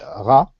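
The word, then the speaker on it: רע: Le mot mal en hébreu se dit ra, mais d'ailleurs ce mot a plus à voir avec le malheur qu'au mal en tant que notion morale.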